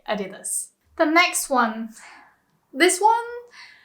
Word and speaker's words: Adidas: We say Adidas. Adidas. It's very close. I've also heard people pronounce it like Adidas, but apparently it's not very correct. Apparently you're supposed to say Adidas.